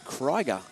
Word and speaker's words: Krieger: announcing and i said how do you pronounce it she said kryger and i went are